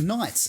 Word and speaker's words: knights: it's fine no uh knights as in knights in shining armor as as the silent k you you got me